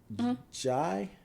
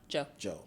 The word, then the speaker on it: Jai: And then I did a show with you and Penelope and Clarissa and your other homie, Jai? Joe. Mm-hmm. Fuck. It's spelled like Jai though, right?